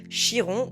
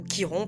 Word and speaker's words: Chiron: En astrologie, il existe un point hyper intéressant, un astéroïde qu'on appelle Chiron ou Kiron, peu importe comment vous le prononcez, le centaure guérisseur.